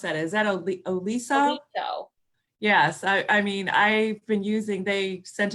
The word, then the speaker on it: Oliso: How do you pronounce that? Is that Oliso? Oliso.